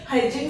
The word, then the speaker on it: hedging: The other name of this is called hedging function, Hedging. Hedging function, D is silent, hedging function we can say.